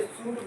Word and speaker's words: should: कि वी शुड walk walk L का प्रयोग नहीं होता है। डब्ल्यू एल के इसको वाक पढ़ेंगे। के के पहले अगर ऑल रहे तो साइलेंट रहेगा डी के पहले अगर ऑल रहे तो साइलेंट इसलिए शुड बोला जाता है ऑल नहीं बोलेंगे इसको कोई दिक्कत नहीं